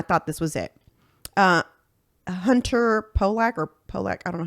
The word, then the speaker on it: Pollack: Hunter Pollack, I don't know how you pronounce his last name. Pollack.